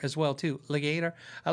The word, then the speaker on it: Legator: like legator uh um i'm having doubt in my head is it it's not it is legator not leg i did how do you say your name and they said it and i'm pretty sure they said legator i have not tried